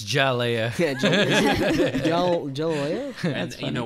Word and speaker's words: Hialeah: Isn't the H silent in Spanish? It's Jalea.